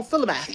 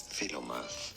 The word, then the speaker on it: Philomath: Oh, Philomath. I was right. Philomath. Although some say it also as Philomath.